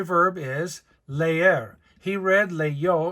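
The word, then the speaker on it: leyó: most common y verb is leer he read Leo l e yo Accent on the o to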